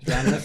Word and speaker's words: anadromous: I was just gonna say because I cannot pronounce it. Adnoramus fish. Adronomous. Adronomous.